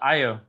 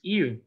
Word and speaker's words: Io: It is called Io. Or how it was originally pronounced, Eu.